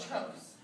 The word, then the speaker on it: trough: And the bottom peaks are called the troughs. Spelled T-R-O-U-G-H, but it's pronounced trough.